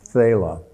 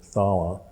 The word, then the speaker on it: Thala: of the cerine pass called phala I guess you pronounce it thala but um we got